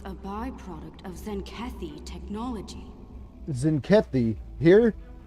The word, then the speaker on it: Zenkethi: Zenkethi here? The T apparently is silent.